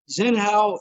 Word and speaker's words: Xian Howe: the fans at home who is xian howe am i pronouncing that right yes sir yes sir zen how is a uh artist